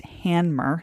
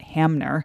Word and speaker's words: Hanmer: Sprint and yes it's Hammer not Hammer a lot of people mispronounce it as if the M comes before the n which it doesn't anyways the handmer starts on Lake flow